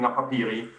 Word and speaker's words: Napapijri: So I'm representing Napapijri. You pronounced the name correctly.